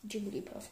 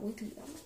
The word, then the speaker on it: Jigglypuff: Wigglypuff, Jigglypuff, not Wigglypuff, let's see.